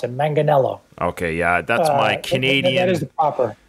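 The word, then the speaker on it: Manganiello: ninth and I had to get this guy's pronunciation of his last name Joe meganello did I get that right no no but you know what that's what most people pronounce it manganello okay yeah that's my Canadian okay I I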